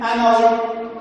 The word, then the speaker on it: hour: In writing, we put H, but in pronouncing, in pronunciation, okay, we put what? In pronunciation, we pronounce the vowel O, and hour, and honest.